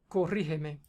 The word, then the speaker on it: Corrígeme: Tiene la fuerza de la pronunciación en la antepenúltima, por lo tanto es una palabra esdrújula y todas las palabras esdrújulas se tildan siempre, ¿ok?